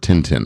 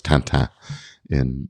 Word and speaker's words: Tintin: French um character of Tintin or I think it's tant in in the French pronunciation um where theyve basically